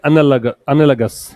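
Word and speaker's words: analogous: Note करिए, इसका pronunciation क्या है, एनालगस, एनालगस, ठीक है।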